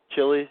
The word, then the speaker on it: Chile: That it's got DNA, it's the spine, it's Chile, it sounds like Keely. You pronounce it like that, yeah.